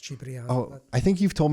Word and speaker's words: Cipriano: In Cipriano. Italian, it is pronounced Cipriano.